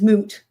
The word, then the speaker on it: moot: Deni the petition is moot rhymes with poot because judge you know